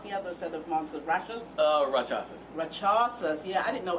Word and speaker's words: Rakshasas: fighting with the werewolves and how do you pronounce the other set of monsters? Rakshasas.